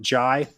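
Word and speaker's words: Njie: it's it's spelled k-a-b-b-a now the last name is n-g-i-e I I confirmed that you pronounce it Jai but kebajai he's a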